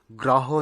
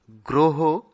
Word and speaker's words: গ্রহ: আরেকটি হল গ্রহ। গ্রহ নয় গ্রহ সঠিক উচ্চারণ।